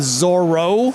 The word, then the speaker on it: Zoro: Youth Worker Nation, today I'm here with Zoro. Yes, indeed. Is that how I pronounce it right? Z-O-R-O, yeah, just like it sounds. That's right. One R, Z-O-R-O.